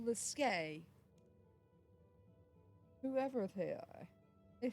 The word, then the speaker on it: Slisk: Someone called Slisk. It's something about a game. Slisk. Who's that then? Never heard of them. It's pronounced Liske.